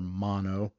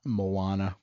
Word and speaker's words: Maono: the name wrong uh my understanding is that is pronounced like you know stereo or mono and not Moana but again I apologize